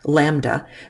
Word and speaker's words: lambda: Wavelength is usually abbreviated with the Greek letter lambda, and that's how you say it, lambda.